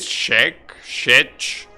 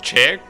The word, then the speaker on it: Czech: know how to pronounce this actually is it she shet how do you pronounce that word Tim okay interesting bottom an interesting bag in Czech oh it's pronounced Czech Czech Republic so we're in Czech Republic right